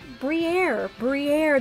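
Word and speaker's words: Briar: We have Salandit, Diplin, Pansear, Meditite, Lumineon, Marowak, Toadscruel, Fido, Togedemaru, and oh my goodness, we have pulled the full art Briere, that's how you finally say her name.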